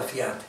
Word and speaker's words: fiate: parti, sicché per 2 fiate, Dio lo fa sentire bene, con una dieresi, vero? La fa diventare trisillaba sta parola fiate, per 2 fiate li